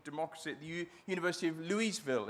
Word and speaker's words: Louisville: at the University of Louisville. Is that right, how you pronounce it? Louisville. Louisville. Louisville, yeah, wow, that's good.